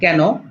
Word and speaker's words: কেনো: লক্ষ্য করুন, ক একার কে ন কেন, ক একার কে নৌকার ন কেন, দুটার উচ্চারণ কিন্তু একই রকম, কিন্তু এর পার্থক্যটা কি?